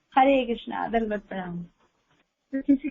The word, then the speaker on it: कृष्ण: जिसे हम बोलते हैं तो हमें कृष्णा नहीं बोलना चाहिए। कृष्ण बोलना चाहिए।